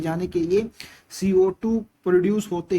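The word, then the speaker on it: kiln: तो ये जो क्विक लाइम है इट is obtained by heating लिमस्टोन इन a rotary किल। Basically यहाँ पे एन साइलेंट होता है, ये एक भट्टी होती है, इसी को बोलते हैं हम किल।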